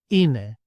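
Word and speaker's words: είναι: The next 2 are E and I, and together they make an I sound, I, as in the word see, see. And the Greek example, ine, ine.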